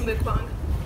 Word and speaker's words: mukbang: But ever since then, I've heard it called both ways, so I looked up how to say it, and it's mukbang.